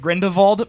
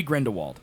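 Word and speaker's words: Grindelwald: on and off man so 90% of the the characters in the movie pronounce it grindal first first of all which grindol grindal m it disturbs me I don't want to do it okay I don't like it it should be grind Wald all right he's Johnny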